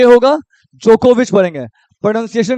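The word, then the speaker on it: Djokovic: winner इसको क्या पढ़ेंगे नो वक य वाई नहीं होगा जे होगा यहां पे जोकोविच यहां पे डी साइलेंट होता है जे होगा जोकोविच पढ़ेंगे प्रोनंसिएशन के साथ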